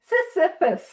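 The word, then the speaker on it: Sisyphus: like the myth of Cephus. I have to pron I have to be careful pronouncing that uh because people think I'm saying syphilis uh and I'm not I'm saying Cphus and it is a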